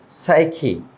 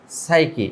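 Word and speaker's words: psyche: তারপর সাইকি, সাইকি, এখানে পি এর উচ্চারণ হবে না, তো এখানে পি এর উচ্চারণ হবে না, এখানে বলতে হবে সাইকি।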